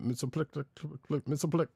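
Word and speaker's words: Mxyzptlk: Wouldn't that also be an indirect reference to Mitsoplik? I'll say it like I know it. Because Mixie also Pitlick. Mitsoplik. Yes. I'm going to say Mitsoplik because that's what I grew up with.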